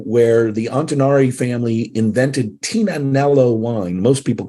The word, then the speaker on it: Tignanello: we got married in a uh in a overlooking a Vineyard where the antonari family invented Tina nello wine most people call it Tignanello but the g is silent right and we had